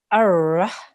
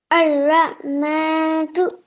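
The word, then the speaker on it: الرَّحْمٰنُ: So we will pronounce this Ar-Rahmanu. Ar-Rahmanu. Good. Make sure you say this ha, the ha there, okay?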